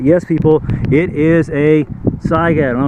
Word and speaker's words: Saiga: Saiga, okay? Say it with me. Say it correctly. It's Saiga.